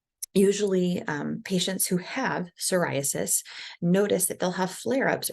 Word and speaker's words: psoriasis: next skin disorder psoriasis I know there's a p on here but you don't it's a silent P so it is pronounced psoriasis um so psoriasis it's an inflammatory disorder